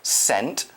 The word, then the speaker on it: scent: is spelled s.c ENT watch out for that seeks it's kind of a silent letter sent with a C and a scent is